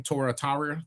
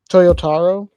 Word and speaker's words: Toyotaro: Uh how do you say his name Torataria? Tora the the old man Goku. Toyotaro?